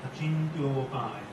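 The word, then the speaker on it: Acintyopāya: In Sanskrit there exists no short O. So So when you pronounce O, it's always long. Achintyopai.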